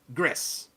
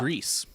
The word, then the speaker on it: Gris: but I did confirm the game is pronounced Gris. It's Gris. It is. I thought it was Gris for a very long time. I thought it was Greece. I'm pretty sure it's Gris because that's how it's pronounced in Spanish, and this is a Spanish developer.